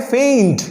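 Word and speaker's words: feign: फेंट।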